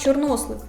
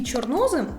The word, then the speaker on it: чорнослив: за я є зараз у словах чорнослив і чорнослив наголос падає на другий склад особисто в мене ніяких